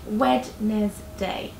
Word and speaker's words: Wednesday: the working week for most people Monday Tuesday Wednesday okay so Monday good Tuesday good Wednesday as you see it's pronounced wedness day after that we have Thursday and then Friday